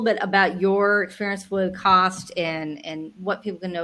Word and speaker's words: CAWST: for 8 years now, and CAWST is how we pronounce the acronym, by the way. Some people will call it CAWST or something else, but the proper way is CAWST.